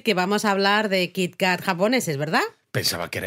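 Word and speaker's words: キットカット: a ver a ver cómo se pronuncia kitcat en japonés kit Cat kit Cat no como con doble T Pues eso para Los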